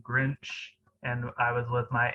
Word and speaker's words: Grinch: So yeah, I had a hard time saying Grinch, and I pronounced it as Grints.